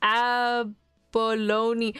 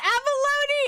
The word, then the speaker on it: abalone: Um, abolone. Oh, are they called abalone? Oh my goodness. My bad. Um, are they pron Oh, I didn't I know they were pronounced abalone.